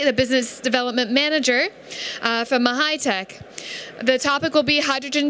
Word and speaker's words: MAHYTEC: It's in French, pronounce MAHYTEC. But it can be anything you like, yeah.